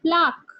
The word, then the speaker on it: plaque: okay, let me tell you the pronunciation. It will be called plaque.